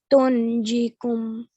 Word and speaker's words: تنجيكم: Tijaratin tunjikum. Nope, you have to hide the noon sound.